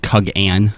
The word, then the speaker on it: Kugane: I don't mean to interrupt you, Fusion, but it's pronounced Kugane.